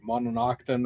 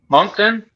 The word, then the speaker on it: Moncton: Is that the one that's in in Moncton or Mononokton or whatever it is? Moncton? There you go.